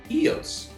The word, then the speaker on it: Ios: wanted to go this island called eos eos is spelled ios and it's right next